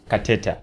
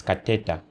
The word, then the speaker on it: Kateta: Kateta, correct.